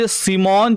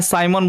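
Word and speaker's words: Simon: है वो है जॉर्ज सिमोन, चाहे साइमन बोलते हैं, साइमन पढ़िए चाहे सिमोन पढ़िए, ठीक है, ओम को बोलते हैं।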